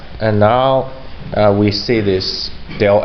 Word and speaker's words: del: Scott basically it's called Dale adhere so to pronounce it properly Cadell f so del f is defined as the vectors which consists